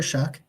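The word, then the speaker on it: Shough: way that Louisville quarterback Tyler shuck that's how you say it by the way like you're shucking corn shuck okay good to know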